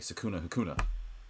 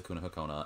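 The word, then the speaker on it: Sukuna-Hikona: special team uh one level I can make sukuna Hakuna and no it's actually pronounced sakuna hakona and no it's not naoto's sakuna hakona I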